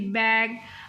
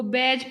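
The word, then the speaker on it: bag: अच्छा ये जो जी को प्रोनाउंस करना है ना इसमें बच्चे अक्सर गलती कर देते हैं। बी ए जी वो बैज पढ़ देते हैं। इसको खासतौर पे जब रिपीट करवाना है तो बी ए जी बैग टी ओ वाई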